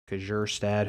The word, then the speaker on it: Kjerstad: Heston Kjerstad, who I can never say his name, K and then a J. That's a tough one.